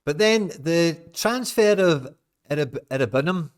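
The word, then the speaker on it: Iroegbunam: But then the transfer of Irabunum, if that's how you say it, I know it's a silent G.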